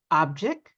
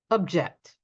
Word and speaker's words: object: So they are a noun if we stress the first syllable, but they turn into a verb if we stress the second syllable. Let me illustrate. We have here object, object, record, record, address, address,